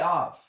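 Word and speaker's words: אב: So the strength of the tent is pronounced av.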